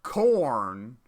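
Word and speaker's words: Khorne: actually don't remember but his name is spelled like this k-h-o-r-n-e so you forget that it's corn okay there's probably going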